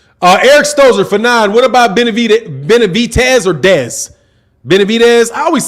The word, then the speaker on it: Benavidez: Eric Stozer, Fanon, what about Benavidez or Dez? Benavidez? I always say Benavidez. I don't say Benavidez. If you say I need to pronounce it David Benavidez instead of Benavidez, that's a D in that.